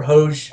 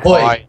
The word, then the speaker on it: Hoj: Hoy. I mean, Hoy. Thank you. Hoy, Thank right? you. The American in me wants to pronounce that J for some odd reason.